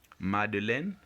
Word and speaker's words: Madeleine: Next, Madeleine et son frère vont faire la fête. In the name Madeleine, you get the air sound in the third syllable, which is len, AI.